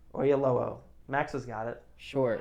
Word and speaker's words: Oyelowo: Oyalowo? Oyelowo.